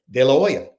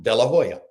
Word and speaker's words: De La Hoya: So, I had a specific in all the way through Oscar's career because I said De La Hoya, not De La Hoya.